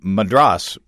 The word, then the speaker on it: Madras: Is it Madras or Madras, Oregon? Madras. Pick one. I know how to pronounce his name, at least.